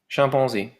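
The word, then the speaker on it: chimpanzé: ah chimpanzee and uh in French the pronunciation is champon champon champon uh so that you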